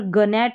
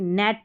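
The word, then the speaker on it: gnat: जी का वैसे उच्चारण ग रहता है। यहां पर ग नेट नहीं पढ़ते। नेट पढ़ते हैं।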